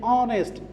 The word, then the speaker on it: honest: n so we respect dash honest we say honest ace is not pronounced here that's why we are using and